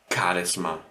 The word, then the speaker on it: Charisma: So you have here these kind of words which are not pronounced with a h, but more with a k.